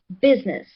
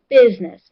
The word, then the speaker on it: business: Business. Where is the syllable stressed? All right, well done. Good job. Okay. Business. Business. And remember I is silent.